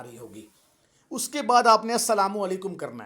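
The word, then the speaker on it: السلام علیکم: वो लाम जो है वो साइलेंट होता है, पढ़ा नहीं जाता, लेकिन अस्सलामु अलैकुम में अली लाम लाजमी होता है।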